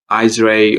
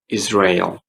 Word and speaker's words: Israel: Yeah, so don't say Israel or Israel because they're not correct. So we should be saying Israel.